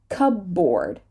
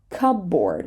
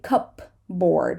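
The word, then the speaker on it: cupboard: the word psychology so Cub board Cub board we're not going to say cup board right it's actually pretty hard to say that you try so raspberry raspberry coo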